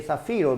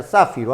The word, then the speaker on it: zafiro: Fíjate bien que se lee zafiro, no vayas a pronunciar zafiro, a veces escucho que dices de esa manera. Si fuese zafiro tendría que llevar tilde en la A, sería una palabra esdrújula. Es una palabra grave, zafiro.